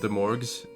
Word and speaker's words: De'Mourges: Is your D&D campaign just a bunch of Demorgs?